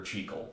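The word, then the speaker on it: Jekyll: The strange case of Dr. Czech and Mr. Hyde or Chico depending on how you're pronouncing it.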